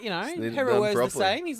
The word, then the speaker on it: Heru'ur: How do you pronounce his name? Heru'ur.